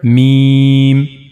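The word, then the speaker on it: م: Me try to read it accordingly. Meme. The dry part of two lips will connect to one another. This is the dry part of the lower lip. And then the dry part of the upper lip mean.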